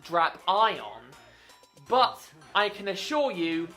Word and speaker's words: Drapion: Well, I can tell you that the correct way to pronounce it is Drapion, not Drapion. It is not Drapion.